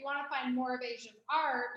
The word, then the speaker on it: Aysha: So my first name's Asia, and my mom just decided to spell it in a very unique way.